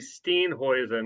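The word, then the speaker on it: Steenhuisen: settlements in uh South Africa and the correct pronunciation would be Steen hoisen because I've said stain ho over there years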